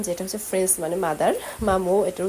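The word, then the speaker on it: maman: মামু। এটার উচ্চারণটা হচ্ছে মামু।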